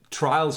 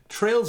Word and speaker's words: Trails: name for a game trails of cold steel not so much in my opinion but yes it's spelt t-r-a-i-l-s which is trails not trials my word richie how